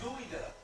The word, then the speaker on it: geoduck: It's spelled like that, but it's gooey duck. It's gooey duck? That's what they spell it so other people can get it. Geoduck.